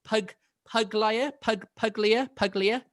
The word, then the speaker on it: Puglia: Am I right in pronouncing this Puglia? Puglia is the right way.